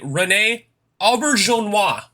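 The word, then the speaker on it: René Auberjonois: played by the late renee albert jean-hua i think the name is french but i'm not sure oh yeah but i imagine it was french but i i'm very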